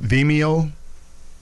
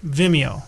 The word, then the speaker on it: Vimeo: And we're going to be touching on some YouTube topics and some Vimeo, a few sites. How do you pronounce that, Dave? Vimeo.